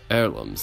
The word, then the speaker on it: heirloom: Heirlooms, like an heir to the throne.